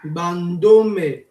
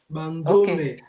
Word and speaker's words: Bandome: Ça se prononce Bandome. Bandome.